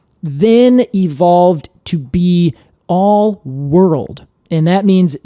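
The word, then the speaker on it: whorled: So that then evolved to be all world. And that means W, and that is spelled W-O-R-L-E-D.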